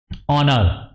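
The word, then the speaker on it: honour: है एन for example ऑनर ठीक है स्टूडेंट अब इसमें हा की आवाज नहीं आ रही बोलने में हा की साउंड प्रोड्यूज नहीं हो रही तो क्या लगा एन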